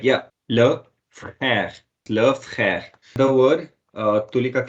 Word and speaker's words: frère: And how would you pronounce this? Love crash. Yeah, you're almost right. Yeah. Le frère.